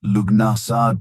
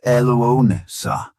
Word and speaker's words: Lughnasadh: In the misty hills and forested valleys of ancient Ireland, the beginning of August marked the sacred and deeply communal event Lughnasadh, pronounced Loo-na-sa, the Celtic festival honoring Lugh, the god of light, craftsmanship, and war.